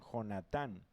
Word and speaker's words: Jonatán: de hablar con Saúl, el alma de Jonathán, o muchos lo pronuncian Jonatán, quedó ligada con con la de David y lo amó Jonatán como a sí mismo.